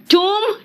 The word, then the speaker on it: tomb: Spelling नहीं पकड़ पाओगे, क्योंकि ओ का प्रोनाउंसिएशन ऑरेंज होता है तो ओ होता है, अनियन में ओ का प्रोनाउंसिएशन आ निकल जाता है, एंड टूम में ओ का प्रोनाउंसिएशन ऊ निकलता जाता।